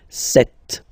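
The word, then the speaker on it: sept: Then here, remember, p is not pronounced, okay? It doesn't exist, so you get this set sound.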